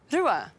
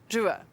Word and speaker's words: rua: Rua. 2. Rua.